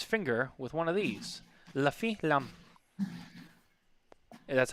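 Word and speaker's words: Les Fines Lames: La fin lam. That's how you say it. La fin lam. All right, not les finis lamus. It's la fin lam.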